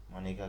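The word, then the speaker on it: Maneka: India 1978 case में, ये इनका नाम की जो स्पेलिंग है वो मनेका ही है, भले इनको मेनका बुलाया जाता है। मैं जस्ट फॉर रेफरेंस आपको बता रहा हूँ इस बात को कि स्पेलिंग यही है, मनेका MANE मनेका Gandhi versus union of India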